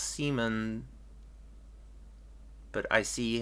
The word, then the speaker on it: Simon: uh I mean Simon from Gurren Lagan is pronounced Seaman but I see how you normally say the